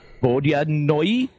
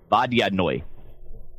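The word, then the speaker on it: vodyanoy: for water it is there's actually two pronunciations for it that I discovered in the pronunciation guide for monsters from Dragon number 93 page 24 it's either the bod noi or V noi I like vodan noi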